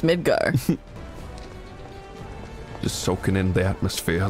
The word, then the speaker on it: Midgar: from ffviii whatever that stands for uh it's pronounced midgar just soaking in the atmosphere look at that